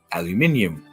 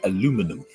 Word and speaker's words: aluminium: Alum is called UK is known as aluminium whil in America you would pronounce it aluminum post mail the differences